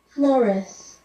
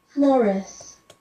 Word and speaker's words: Flores: Flores. Flores. Flores. Dennis Flores. I think it means flowers, but you're not supposed to change, you're not supposed to anglicize it on your own.